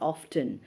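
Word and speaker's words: often: फॉर ऑफ्ट, ऑफ्ट जो है वो शॉर्ट फॉर्म है ऑफन का। फॉर ऑफ्ट और sometimes people also pronounce it एज ऑफ्टन।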